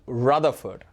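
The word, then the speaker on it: Rutherford: அப்படி தான் நம்ம சொல்லணும் சரிதானே so this is pronounced as Ernest ரதர்ஃபோர்ட் ஸோ அவர் ஒரு scientist and ஹீ இஸ் credited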